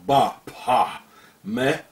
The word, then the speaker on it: Baphomet: Therefore, the name should be pronounced without the T at the end. As the early Templars were French, and in French the T at the end is not pronounced, coming to the exact pronunciation in demotic.